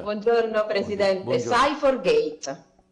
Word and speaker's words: Cy4gate: lei perché se io sbaglio sicuro Come si pronuncia Buongiorno presidente Buongiorno S for Gate S for Gate Spa prego a 10 minuti a sua disposizione